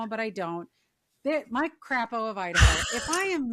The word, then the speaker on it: Crapo: Like it's spelled Crapo. Oh, it's only one P. So it's not like could be misconstrued as like Crapo or like Crapo? Yeah. Crapo, maybe? No, it's probably Crapo. It's got to be Crapo of Idaho.